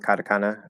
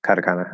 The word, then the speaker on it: katakana: my my accent there i'm flapping the tea kata kata definitely not the japanese way to say it but katakana um i'm also doing a schwa at the end uh but so i